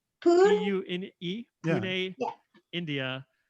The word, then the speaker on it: Pune: Sounds like Pune. Pune?